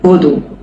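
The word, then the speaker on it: vodu: ভদু তখন বাক্য প্রয়োগ করলে ওই উচ্চারণ হবে না। ভদু হবে।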